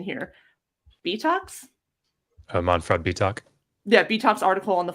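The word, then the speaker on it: Bietak: And Josh, you'll have to help me on pronunciation here. Betox? Manfred Betox.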